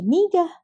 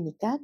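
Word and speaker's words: 네가: Kenapa dibacanya jadi niga? Pada momen ini, kenapa dibaca jadi nikah? Karena supaya membedakan. Jadi orang Korea membacanya walaupun tulisannya itu nega tetapi supaya membedakan dengan bentuk nega yang aku, maka diucapkannya menjadi bukannya nega tetapi nika sehingga menjadi nikenaramen dega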